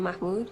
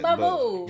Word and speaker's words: Mahmoud: It's been 6 months since I've seen Mahmoud, and Mahmoud.